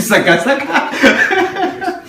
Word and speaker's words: saka: Mais non, je dis Saka. C'est pas comme ça. Si si, c'est exactement ça. C'est tellement bien prononcé que ça me fait plaisir.